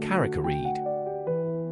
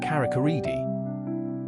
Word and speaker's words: Carrick-a-Rede: Carakeed pronunciation, it's pronounced Caracared. You might hear a few locals pronounce it as a Caracaridi.